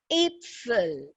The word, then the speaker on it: Äpfel: And the plural for apples is Äpfel. So Apfel und Äpfel. If I say Apfel means one apple, Äpfel means many apples.